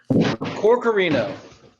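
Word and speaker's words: Corcorino: me your last name corkorino okay i wanted to add some other letters and syllables and things in there that was it was not i've heard it before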